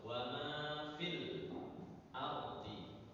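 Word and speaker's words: وما في الأرض: wasal di Dep tempatnya maka ketika kita membacanya nyambung ee bacaan tempatnya hilang waama fil langsung wama fil ardhi kalau nyam nyambung tapi kalau wakaf wa fi berhenti menjadi panjang karena apa Karena ada huruf madnya sekali lagi ee apa namanya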